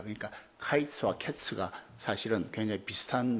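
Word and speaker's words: קַיִץ: 가지고 있습니다 네 이제 여름 과일은 히브리 말로 카 있으라고 하고 또 이 끝은 캡스 라고 한답니다 보니까 카이스 어캐 스가 사실은 병에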